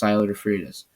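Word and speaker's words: Syler DeFreitas: SYLERDEFREITAS, the YouTube channel, or just Siler Fritas. That's how you say it.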